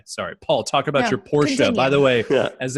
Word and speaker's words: Porsche: thing I was like if you can't say Porsche in two syllables you're not allowed to own one and I was like